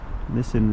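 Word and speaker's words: Nissen: and that's uh Nissan n-i-s-s-e-n I believe it's pronounced missing Road missing Lane they're off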